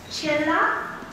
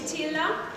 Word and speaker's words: Csilla: I would like to bring to the stage Csilla. Is that how you say it? Yes. Csilla. I hope I pronounced that right.